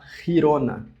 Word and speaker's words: Girona: Girona. Girona. Não, girona. Gi, a gente não fala esse gi, então é riona, som de e aqui, por exemplo, essa palavra que significa geral é general.